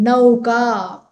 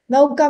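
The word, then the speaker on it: नौका: Nauka means boat. Nauka. Yeah. So in Hindi you say nauka because in Hindi the pronunciation is different. It is in Sanskrit how you see it is how you pronounce.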